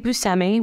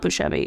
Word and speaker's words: Buscemi: made a film with Steve Buscemi which that's how you say it not bushebe it blew my mind